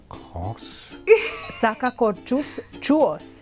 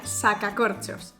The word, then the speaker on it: sacacorchos: Sacacorchuos. Sacacachuos. Más o menos. Ronronear. La pronunciación correcta sería sacacorchos.